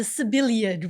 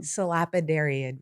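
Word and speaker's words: Sabellariid: I call them the Sibyliad worms, and I know that's wrong. Salapidariid reef. Okay. And I believe Boom, that's you as nailed it.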